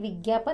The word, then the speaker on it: विज्ञापन: विज्ञापन यानी जो हम हमारे टीवी पर जो जाहिरात देखते हैं उसे हिंदी में विज्ञापन कहते हैं। लिखते विज्ञापन है, लेकिन आपको तो पता ही है ज्ञ का उच्चारण ज्ञ होता है।